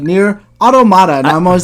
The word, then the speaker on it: Automata: been pronouncing this whole i've always been near antonyma that's how i've always said it and it's like there's like there's no ends i don't know what